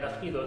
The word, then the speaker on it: Afreedoll: Afridol, donc avec cette écriture un peu spéciale, c'est un mélange de free, comme la liberté en anglais, et Afri, en fait, cette prononciation pour appeler en fait l'Afrique. Et Doll pour signifier la poupée, mais au fond, en